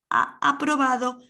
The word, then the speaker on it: ha aprobado: Ha aprobado, those H's are not pronounced, ha aprobado prohibición. These cuchillos is pronounced as a Y, cuchillos, pajitas is like a H.